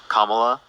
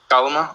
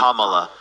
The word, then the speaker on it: Kamala: Kamala. Kalama? Okay. Thank you. Kamala.